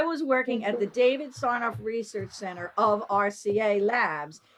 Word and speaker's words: Sarnoff: that, your work with David Sarnoff do I pronounce his name right? The radio club, and I'm David assuming Sarnoff, yeah.